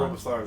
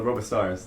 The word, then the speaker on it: Robe of Stars: It's my cloak covering my stump, the Robo Stars now. I like how you guys say that. You say it like it's a Robitussin. Robostars. Robo Stars. Robe of stars. Because there was a little